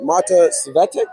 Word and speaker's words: Svetek: A narrow E. That first E, it's tricky.